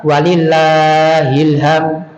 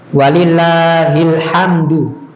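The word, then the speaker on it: ولله الحمد: Walillah hilham hamd ya jadi banyak orang yang salah walillahilham walillahilham salahnya di mana Pak salahnya pengucapan ha bukan ha harusnya walillahil ham ham alhamdu walillahil hamdu dan walillahilham Iya ini salah H jadi banyak yang bertakbirtakbiran ya tapi salah pada akhir-akhirnya walillahilhamd hilhamd bukan Hil ham ham ha sama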